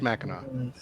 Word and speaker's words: Mackinac: No, it's spelled Mackinac. I don't know why. But it is pronounced Mackinac.